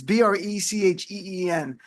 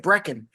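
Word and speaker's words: Brecheen: Republican Congressman Josh Bretten I listen how his name is pronounced. It's a weird name. It's B reheen. It's like Breen.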